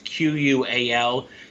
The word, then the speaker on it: QUAL: ETFs this year is q-u-a-l this is an ishares ETF it's qual is how I would pronounce it higher quality Blue Chip